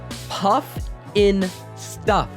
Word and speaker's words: Pufnstuf: Hell, the main character's name is even pronounced Pufnstuf.